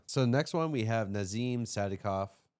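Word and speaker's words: Nazim Sadykov: So next one we have Nazim Sadikov, right? Yeah, that's how you say it.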